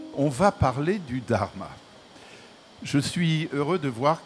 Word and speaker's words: dharma: D'où vient ce mot qui s'écrit donc Dh A R M A et on entend le H. On prononce donc dharma.